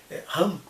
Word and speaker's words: Ham: Aí o menino mais novo, Ham, mais conhecido como Cam, mas é assim que pronuncia no hebraico, ou sei lá, no babilônio, Ham, ele vai dizer, olha